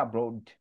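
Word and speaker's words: abroad: বিদেশ ওকে এটা আমরা এব্রোড বলি কিন্তু শুদ্ধ হচ্ছে আব্রোড ওকে আর বলেন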